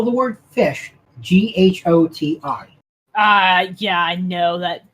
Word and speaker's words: ghoti: The GH is pronounced f, as in the end of rough, tough, enough. The O is pronounced I, as in women. And the TI is pronounced sh, as in station, portion. You could out the other fish.